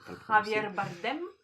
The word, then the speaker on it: Javier Bardem: Je le prononce à l'espagnol parce que j'ai des origines. Javier Bardem.